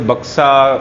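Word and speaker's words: Buxa: आज मैं जा रहा हूँ बुक्सा टाइगर रिजर्व, और बंगाली में से बक्सा, कोई से बुक्सा, बक्सा, इस तरीके का इसका प्रोनाउंसिएशन है।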